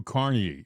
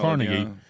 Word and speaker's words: Carnegie: on uh the internet and type in Andrew Carnegie or Carnegie right Andrew Carnegie uh in in Pittsburg they pronounce it carnegi but it's actually andw Carnegie uh it will say American industrialist right but